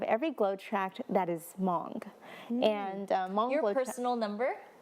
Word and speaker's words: Hmong: what that is language it's a silent H but it's because we have like a nasal it's like moans like if I slowed it down that's what it sounds like it's like I kind